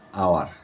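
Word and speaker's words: hour: এ আওয়ার আওয়ার মানে উচ্চারণ হাওয়ার না আওয়ার এজন্য এখানে এন বসছে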